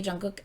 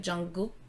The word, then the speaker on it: Jungkook: You're supposed to kind of pretend it's not there. It's supposed to be like Jungkook, kind of like.